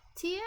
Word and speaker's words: tio: Neo and Tio are pronounced more like Nia and Tia BTW. Thank you very much. Nia and Tio. Oh, thank you. Ammonian, you're a piece of coal. Neo and Tio sounds more like Nia and Tia.